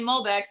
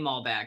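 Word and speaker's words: Malbec: my high altitude argentinian mulbex which i was told is supposed to be high altitude argentine mall back so i'm sorry i always say it wrong and 50 off shipping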